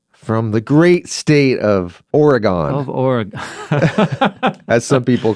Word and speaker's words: Oregon: And I go, it's pronounced Oregon. He goes, "Not around here. It's not." Well, I thought I was correcting him, and he's "No, you're wrong. Yeah. It's Oregon." Yeah. It does make more sense of how it's spelled.